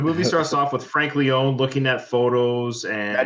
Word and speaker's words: Leone: Now, do you like Leone or Leone? Sorry, it is Leone, isn't it? My apologies. I don't know. Don't they pronounce it both ways? Yeah, that's true. I think Leone sounds more Italian, you know.